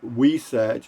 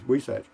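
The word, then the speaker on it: huisache: these things me m-e-e i've always wondered how something spelled we satch is pronounced we sag yeah i know h-u-i-s-a-c-h-e i'll hear you at least that's how that thorny bush is pronounced in southwest houston nice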